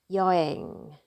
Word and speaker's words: 여행: And here I'm gonna pronounce this word as 여행, 여행.